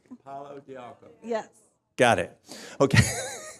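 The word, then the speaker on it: pau d'arco: Who knows about Padiarco? Pardon? Hang on a sec. We'll get the right pronunciation. It's palo, like stick, de arco, like an arc. Palo de arco.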